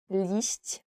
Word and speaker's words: liść: I guess it's very difficult to pronounce. Liść.